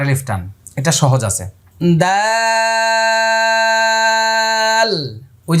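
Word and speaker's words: دال: দা, এই যে দেখেন দাল, শেষে লাম আসছে, এই জন্য আবারও মুখটা দেখেন কিভাবে করছে, দাল, ঠোঁট লাগাবেন না, দাল এরকম করবেন না, দাল, আয়না দিয়ে দেখে দেখে।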